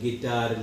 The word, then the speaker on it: guitar: GUITAR बोला जाता है गिटार, लिखा जाता है गुटार, GUITAR।